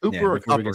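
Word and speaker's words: Kuper: It's Cooper. They say it's Cooper. Cooper. Like it's But it's spelled like cupper, you know?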